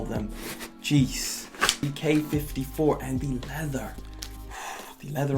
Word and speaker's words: Quai 54: decided we're going to go with k54 you know the actual way to pronounce it i mean it doesn't really matter whatever you want to call them geez ek 54 and the leather the